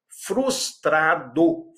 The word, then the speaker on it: frustrado: Frustrado, frustrado, não é fus e não é tá, é frustrado.